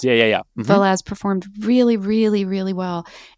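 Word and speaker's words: Vélez: Is it Velez? Yeah. Is that how you pronounce it? Yeah. Velez. Yeah. Velez performed really, really, really well.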